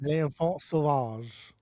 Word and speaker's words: L'Enfant Sauvage: L'Enfant Sauvage.